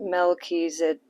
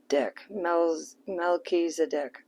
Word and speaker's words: Melchizedek: The Order of Melchizedek. It says, embraced by light, mission uncovered, don't give up. It's pronounced Melchizedek. Melchizedek.